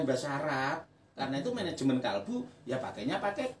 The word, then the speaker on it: kalbu: Sama seperti itu manajemen kalbu, bahasa Indonesia itu kalbu. Kalau bahasa Arab kolbu. Tapi ya jangan dipaksakan. Kalau kolbu dalam bahasa Arab itu artinya adalah hati. Tapi ketika ditarik ke bahasa Indonesia yang benar itu kalbu.